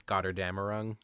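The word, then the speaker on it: Götterdämmerung: I don't know because it's German, but I think it's Gotterdammerung.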